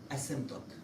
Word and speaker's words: asymptote: So we call this line y equal, let's say 1 asymptote. How to write asymptote? P letter is silent.